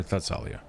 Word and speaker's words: Thessalia: Is it Thessalia or Thessalia? Hard T, Thessalia.